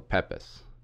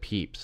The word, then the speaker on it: Pepys: on gambling as Samuel Pepys has been pointed out to me it should be said peeps and I apologize for